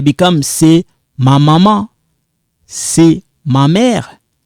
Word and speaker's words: c'est: You cancel this when you pronouncing it. The only thing left is this, which produce it become like say. So this, when I combine this one like this, you don't pronounce that S there, become c'est ma maman,